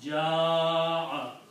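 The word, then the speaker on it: جاء: But when you have created the word, then by the rule, you will have to pronounce ja'a.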